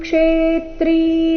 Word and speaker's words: ಕ್ಷೇತ್ರಂ: ಲೋಕಮಿಂ ಲೋಕಮಿಮಂ ರವಿಹಿ ರವಿಹಿ ಕ್ಷೇತ್ರಂ ಕ್ಷೇತ್ರಿ ಇಲ್ಲಿ ಆಘಾತಗಳ ಮೇಲೆ ಗಮನ ಕೊಡಬೇಕು ಕ್ಷೇತ್ರಂ ಕ್ಷೇತ್ರಿ ಈ ರೀತಿ ಇಲ್ಲ ಕ್ಷೇತ್ರಂ ಕ್ಷೇತ್ರಿ ಎರಡು ಶಬ್ದಗಳಲ್ಲಿ ಕ್ಷೇ ಈ ಅಕ್ಷರದ ಮೇಲೆ ಆಘಾತ ಬರಬೇಕು ಕಾರಣ ಮುಂದೆ ತ್ರ